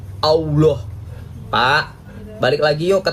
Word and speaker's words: Allah: Walaupun double L itu dibacanya Allah, bukan Allah.